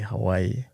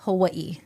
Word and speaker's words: Hawaii: There's a way that you guys say Hawaii that is Yes. not the way we say it. Correct. I think we butcher it. Yes. We are sorry. We apologize. Yes. But in all fairness, when it's spelled, it is not spelled right. So it can be misleading. Okay. How are we So- supposed to say it? It's Hawaii. Hmm? Hawaii. So in the Hawaiian language, they have something called